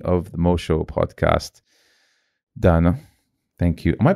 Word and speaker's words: Daneh: Dana, thank you. Am I pronouncing it right? Yes, Dana.